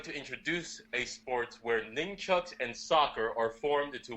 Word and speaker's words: nunchucks: It sounds like you're saying ninchucks. Like I've always heard numchucks, like N-U-M, or none, N-U-N, nunchucks. But it sounds like you're doing a different pronunciation. Let's go with nunchucks.